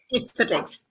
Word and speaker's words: aesthetics: So your knowledge is in, how do you pronounce? Is it aesthetic? Aesthetics.